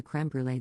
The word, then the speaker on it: crème brûlée: a comment about the crème brûlée they had, and I pronounce it in French. Because it's a French word. And I'm French. And Sorrel interrupts and goes crème brûlée in a really exaggerated